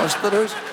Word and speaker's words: Västerås: Västerås.